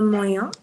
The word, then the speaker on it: moyen: Le le moyen.